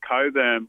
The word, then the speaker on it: Cockburn: I used to go to school with someone with the last name Coburn, but it's spelled Cockburn.